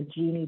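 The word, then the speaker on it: Jini: i worked on the genie project it's spelled j-i-n-i but pronounced like the woman's name genie and genie was really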